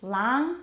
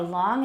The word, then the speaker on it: long: It is lang or long in most forms of American English and long in most forms of British English.